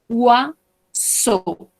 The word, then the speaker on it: oiseau: Oiseau, oiseau. Recordemos, cuando tenemos OI, vamos a pronunciarlo como UA. Ua, y estas tres, EAU, se pronuncia como una O.